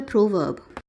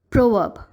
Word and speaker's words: proverb: So the British pronunciation is proverb. Here, you must notice that the first syllable of the word has a sound O to it, as in pro. And the second syllable of the word is pronounced as verb, without pronouncing the letter R.